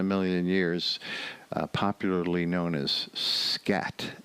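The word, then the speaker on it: Skat: notice in a million years popularly known as scat s k a t nobody even calls it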